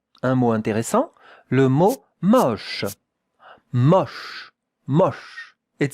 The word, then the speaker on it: moche: M-O-C-H-E. Sh. That two letters make the sound sh. Sh. Regardez la prononciation. Moche. It's not moche. No, it's moche. More open, the O.